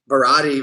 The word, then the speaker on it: Barati: It's like I know Barati rhymes with karate.